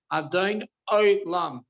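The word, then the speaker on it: אדון עולם: Let's read this properly. Adon Olam. That's the proper pronunciation.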